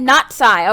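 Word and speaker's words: Natsai: with them uh oh she said not Psy okay that's how you pronounce her name okay so I okay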